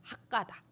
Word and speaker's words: 핫가다: 그런데 우리가 지금 하가다라고 하는 것은 사실은 제가 첫날도 그 하가다 설명하면서 첫날 말씀드렸는데 하가다가 아니라 핫가다라고 하는 게 원래 발음대로 하면 더 정확해요. 핫가다.